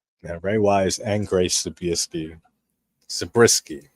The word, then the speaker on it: Zabriskie: Yeah, Ray Wise and Grace Zabriskie, right?